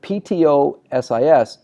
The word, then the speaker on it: ptosis: The word ptosis, the P is silent.